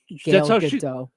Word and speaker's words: Gal Gadot: Gal Gadot. No, that's how she pronounces it. I've heard her say it on television. Gadot with a T.